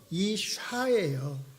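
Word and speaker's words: אשה: 여자는요 이샤예요. 비슷하지요? 발음이 이쉬 이샤.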